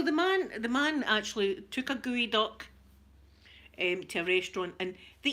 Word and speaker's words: geoduck: Gooey duck, but it's spelled Geo, as in geoduck, you think it would be called. It's called a geoduck, and I'll tell you, it's phallic shape.